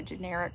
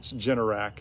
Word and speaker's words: Generac: Are you going to have a generic whole house generator? We need one. It's absolutely the best money we've ever spent. Oh, that's good to know. Okay, I love that. It's Generac is how Generac?